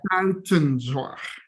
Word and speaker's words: Buitenzorg: Buitenzorg. Okay. Anyone who can pronounce correctly will get door prize, yeah?